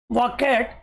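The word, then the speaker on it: bouquet: आज ही सो ए वकेट देखो टी यहां पे साइलेंट रख सकते हो आप इसको बोलते हैं वॉकेट वॉकेट का मतलब होता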